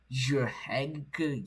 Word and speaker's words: Jrhægq: I really hope you pronounce it as Jrhægq. Just pronounce it as Jrhægq OS because that's how it's supposed to be pronounced.